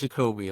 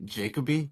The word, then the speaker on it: Jacoby: part of the skit No it's shakobe a lot of people call me jacobe but it's it's shakobe oh okay yeah that's